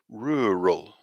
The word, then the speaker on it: rural: this complicated or this combined vowel sound here and then the second